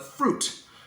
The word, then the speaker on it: fruit: forgot about the word fruit uh so many people say fruit um fruit we write the Lesser I but we don't say it fruit fruit okay so